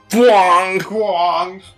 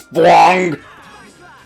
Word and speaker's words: Fwong: If successful and the bonus damage condition is met, the damage value will be displayed in a Fwong. Yes, that is how you pronounce that. It is Fwong.